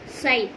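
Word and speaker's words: ψ: இதை வந்து இட் is denoted by the simple சை. இதை வந்து எப்படி நம்ம ப்ரொனவுன்ஸ் பண்ணணும் அப்படின்னா சை.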